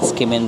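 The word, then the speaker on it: tsukemen: Yung spelling niya is parang to kimen pero ang pronunciation niya skimen ramen.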